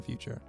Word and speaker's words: Futur: So if you type in The Futur, and The Futur is spelled without an E, so it's Futur, F-U-T-U-R.